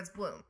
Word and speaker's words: Blum: Is it Blum or Bloom? I say Bloom, but Well, what is it? it depends. I say Bloom. Depends on your mood. If people just need to know how to spell it, I say Blum. Okay, yes. BLUM. Yep. but it's Bloom.